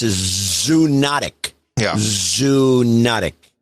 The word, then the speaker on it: zoonotic: 1 of the Iliad, it is a zoonotic disease.